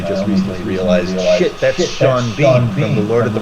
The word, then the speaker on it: Sean Bean: lot, watching wrestling, and Sean Bean is in it, and I had never realized that his first and last name are spelled the same way, but pronounced differently.